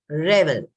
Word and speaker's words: revel: Second one is revel. Don't get confused between revel and reveal. That is VEAL. This is revel.